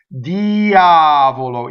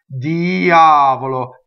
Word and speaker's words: Diavolo: very important okay so if you notice the accent in Diavolo is on the ah so this means that